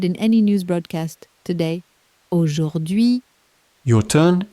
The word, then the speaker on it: Aujourd'hui: Aujourd'hui. Your turn, it's a mouthful, take it slowly. Aujourd'hui.